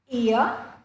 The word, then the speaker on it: ear: Examples are ear, the R is silent. Alright, the R that comes at the end of English words are usually silent.